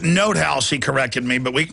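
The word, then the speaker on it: von NotHaus: go after this guy by the way it's pronounced note house he corrected me but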